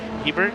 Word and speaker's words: Hebert: you know just uh Hebert actually Hebert as you said it's not a bear right it's not a